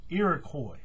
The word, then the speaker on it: Iroquois: of the bracelet is the Iroquois path modified Iroquois tribe of Native Americans um i r o